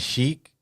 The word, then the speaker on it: Sheik: And we got the Grand Sheik.